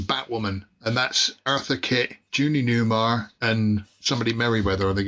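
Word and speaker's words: Julie Newmar: The woman on the way, if you go back up, Phil, Julia Naymar. Yeah. That's Catwoman out of the Batman. Judy Newmar. That's how you say it, yeah.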